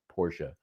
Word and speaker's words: Porsche: a Porsche um and it is two syllables, Porsche, um 911 convertible, Cabriolet.